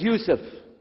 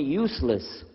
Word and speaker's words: Yousef: we'll work on itah my name is Yousef can you say Yousef said Yousef you're very good I wish You' teach my wife she keeps mispronouncing it she calls me useless alhamdulillah now how many